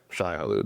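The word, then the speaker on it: Shai-Hulud: Yeah, Shai Halud, the giant worm.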